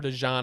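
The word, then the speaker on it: DeJean: Mitchell you have Cooper dejan I guess it's pronounced not dein I've been saying it wrong for months um yeah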